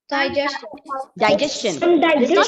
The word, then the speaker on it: digestion: This happens only in the case when the penultimate syllable is GES. So let's take another example. Yes, what about this word? Digestion.